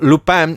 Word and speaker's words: Lupin: watching subtitles or dubbed so lupine as a as they say in french it's always been looping to me check it out on